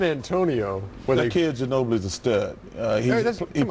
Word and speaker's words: Ginobili: kid Ginobili's a stud. Hey, that's- come on. He plays with reckless I thought when he was having a good game, you'd pronounce his name a different way.